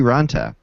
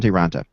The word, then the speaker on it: Raanta: say auntie Anna that's closed on trakis right raanta right I always want to say random bits on taranta antti raanta today came out in a finished